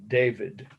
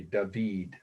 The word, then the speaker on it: David: Okay, David is how we pronounce it in English, but the French say David.